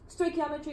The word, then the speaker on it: stoichiometry: it with learning stoichiometry stoichiometry is pronounced oi key ah mah tree if we're gonna be